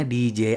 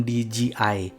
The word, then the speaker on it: DJI: dari Dji Oh ya bacanya diji ya bukan di gii karena ini J bukan G kalau J itu bacanya J kalau G baru bacanya g Oh ya sebelum mulai